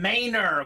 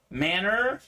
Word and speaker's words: Maynor: hit says William William Maynor we just found out the name is pronounced Maynor not manner uh so William nice